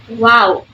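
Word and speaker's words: واو: form a circular shape similar to the English W in water so wow when you add the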